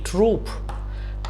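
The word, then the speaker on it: troupe: important है समझना क्योंकि प्रोनंसिएशन सेम है होमोफोन है बट स्पेलिंग्स डिफरेंट है कैसे आइए इसको समझते हैं यह है टी आर ओ यू पी ई ट्रूप और यह है टी R double O पी ट्रूप तो ये जो ट्रूप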